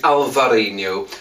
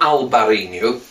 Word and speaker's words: Alvarinho: But I know it is Alvarinho, and not Albarinho.